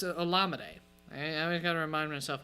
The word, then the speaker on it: Olamide: Or is that pronounced? But it's Olamide.